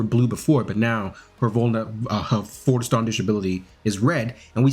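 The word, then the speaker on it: Vollständig: That's how they say it. Volstandish.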